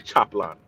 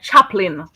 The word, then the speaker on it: chaplain: And then when you're saying chaplain, do not pronounce the A at all. So it's like chaplain.